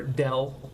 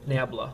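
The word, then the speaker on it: ∇: And by the way, this little symbol right here, when you're pronouncing this, this would be pronounced either del.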